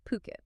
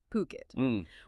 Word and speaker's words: Phuket: That's ph u k and it's pronounced puket. Definitely not fukquet as some might mistakenly say, it's puket.